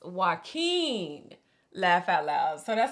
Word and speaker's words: Joaquin: y'all's patreon I check it every day it's pronounced Joaquin laugh out loud so that's how you say it Joaquin yeah yeah so you were close I think no spot on no you said yucky yucky you say yeah Joaquin it's why it's